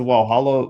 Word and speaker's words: Walhalla: No, the one the one with the one they pronounce with the W in Gippsland.